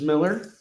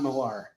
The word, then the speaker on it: Millar: And we have 189, which debates the great topic, Bendis versus Miller. It's actually Mark Miller. It's not Millar. It's spelled Millar, but it's Miller.